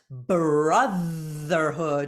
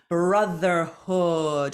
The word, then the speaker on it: brotherhood: quality and then finally Brotherhood so that be constant very plosive it's voiced Brotherhood and get the tongue between the teeth for the voice th Brotherhood and an uh sound